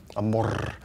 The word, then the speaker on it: Amor: That's how you say his name. Amor.